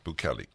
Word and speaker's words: Bukele: See how the computer pronounces it. So what is it, Bukele? Yeah, Bukele.